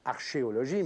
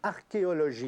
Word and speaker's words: archéologie: Non, d'ailleurs, ça ne se prononce pas archéologie, mais archéologie.